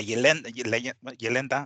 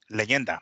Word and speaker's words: leyenda: Jr., el hijo de la Yelenda, no, what is it? Leyenda. There you go. That's how you say it.